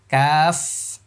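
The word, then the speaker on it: كاف: লক্ষ্য করুন সবাই এই যে দেখেন এই যে কফের সীমানাটা লক্ষ্য করুন এখান থেকে জিহ্বার মানে শুরু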